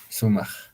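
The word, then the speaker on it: sumaq: Sumag, sumag. Si lo vamos a escribir con esto, estaría sumac, ¿no? Entonces, con esto se va a pronunciar sumag.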